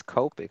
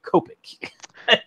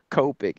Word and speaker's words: Copic: you like you just you're gonna pronounce it as is and then Copic you're like I'm gonna add something to cop I'm gonna make it coping I just go by